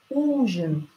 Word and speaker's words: ужин: We hear ы, we hear ы, but we have to write и. Pronounce ы, but write и, because you are not allowed to put ы after hissing consonants.